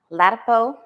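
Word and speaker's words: Ladapo: So Rachel Maddow did a special last night, and I was talking to you about DeSantis Surgeon General Joseph Ledapo.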